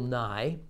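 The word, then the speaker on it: Nighy: the film also stars bill nye that's not the science guy that's the older british actor whose name is spelled n-i-g-h-y if you like him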